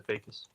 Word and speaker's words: Fajakis: Lisa Fakis. What, the J's not pronounced? It's silent.